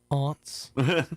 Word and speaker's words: aunts: Always the ant. No. The ant. It's pronounced aunts.